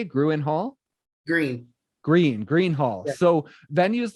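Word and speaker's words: Gruene: You also have Billy Bob's Texas and Gruen. Is that how you say it? Gruen Hall? Green Hall.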